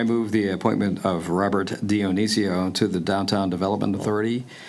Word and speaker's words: Dionisio: Dionisio. Dionisio, thank you, to the Downtown Development Authority to the expired term of October 31st, 2023 to expire October 31st, 2027.